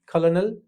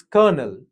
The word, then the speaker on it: colonel: If you're pronouncing it as colonel, it's wrong. It's colonel. Colonel.